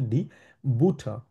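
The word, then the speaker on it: die Butter: খুবই হালকা খাবার দিয়া বুটা মানে হচ্ছে বাটার ইংলিশে আমরা বলি হচ্ছে বাটার কিন্তু জার্মানিও কিন্তু বানানটা সেম কিন্তু ইংলিশের সাথে এখানে উচ্চারণের আমাদের একটু তারতম্য আছে সেটা হচ্ছে আমরা বলি হচ্ছে ডি বুট তারপর ডাস ব্রোট এইযে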